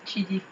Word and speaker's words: Chidi: Oui, Shidi, voilà. Shidi. Oui, mais ils disent Chidi. Chidi, oui, mais ça s'écrit C-H-I-D.